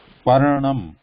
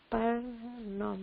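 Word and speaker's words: पर्णम्: Paranam. Parnam. So stop here, like so here when you are saying that when there's a consonant, sudden stop there, like when saying that, pronouncing like parnam.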